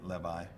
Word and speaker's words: Levi: that were written, Freelander, I always say Louis, but I think you should pronounce it Levi, something like that, and Katz.